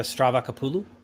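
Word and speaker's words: Stavrakopoulou: reading right now by francesca stravacopoulou and that's like the greek way of pronouncing her last name but um she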